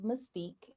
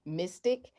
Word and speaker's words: mystique: is at house of mystique and that's h o u s e o f m y m-y-s-t-i-q-u-e i have to say i have to uh spell it out because some people say mystic or they'll spell mystic